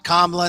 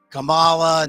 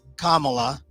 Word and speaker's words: Kamala: mispronounce comma Harris's name it's kamla not Kamala not whatever you want to say it's kamla and she was called